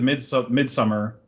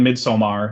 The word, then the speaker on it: Midsommar: immediately, because Hereditary and Midsummer, that's how you say it, by the way. Stop saying Midsommar. Nobody says it like that in Sweden. They're like, yeah, Midsummer. Like, they don't say Midsommar.